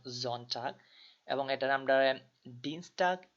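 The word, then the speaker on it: Sonntag: হয় না আর কি যেমন এখানে এস টারে অনেকে যারা বাংলাদেশে গুয়েত ইনস্টিটিউট তারা অনেকে এটারে এস বলেই থাকেন কিন্তু আসলে এটা এস হবে না এটাকে আমরা জেড এর মতন জন চাক এবং এটারে আমরা ডিনস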